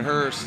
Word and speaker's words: Hurst: in regards to Jonathan Hurst. I know you're talking to Spotter. What happened? Uh yeah, looks like uh the worst uh he lost an engine. Uh, it's pronounced Hurst.